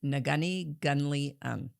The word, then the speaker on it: Neghuni Ghunli-un: Uh it took me two months to learn how to pronounce the whole name and it is Nagani Guni and uh it means knowledge keepers loosely loosely